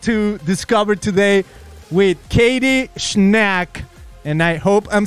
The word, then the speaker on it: Schnack: I'm like, if there's a CH, I will be saying the CH, like I'm not making it silent. So it's Schnack. Schnack.